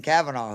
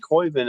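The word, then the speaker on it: Koivun: Because like we saw again, Jackson Kavanaugh, who is sophomore, from Auburn. Yeah, I think you pronounce it Coiven, but yeah, Jackson Coiven.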